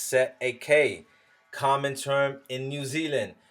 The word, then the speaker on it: cestui: Cestui Trust, pronounced Set a K, common term in New